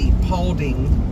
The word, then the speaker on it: Paulding: Yeah, it's spelled P as in Paul, A-U-L-D-I-N-G, Paulding.